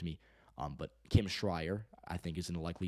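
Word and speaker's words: Schrier: or I think it's schreier I think someone told me I had someone in my video where I said her name I think it's schreier um so I am hoping I got that right it's Kim schreier but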